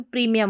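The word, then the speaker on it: premium: फिर ये देखिए PRE को प्री, MIUM, मियम, मियम करके पढ़ा गया तो प्रीमियम हो गया, ठीक है, प्रीमियम, इसको भी ऐसे याद कर लें, प्रीमियम, प्रीमियम।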